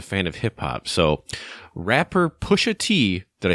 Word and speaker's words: Pusha T: know he's a fan of hip-hop so rapper push a tee did I say it right yes okay Pusha